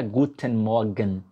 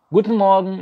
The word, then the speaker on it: Guten Morgen: E você inclusive deve ter, caramba, a pronúncia não é Guten Morgen. Guten Morgen, engolindo.